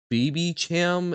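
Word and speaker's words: Babycham: oh dear God um so it's pronounced sham like champagne ah okay duck life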